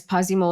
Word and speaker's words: Pazimo: So guys, Pasimo is spelled P A Z I M O.